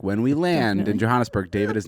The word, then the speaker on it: Johannesburg: We landed in Johannesburg, and Took I always three say planes to get that there?